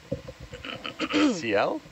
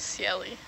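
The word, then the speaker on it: ciel: logo on your hat Cel Cel Oh I thought it was Celli it's French for sky sky yeah definitely saying it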